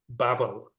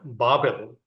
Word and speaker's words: Babel: Therefore, is the name of it called Babel or Babel, different ways people pronounce, because the Lord did